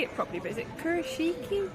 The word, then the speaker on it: Kurashiki: And we're going to, I don't know how to say it properly, but is it Kurashiki? Kurashiki.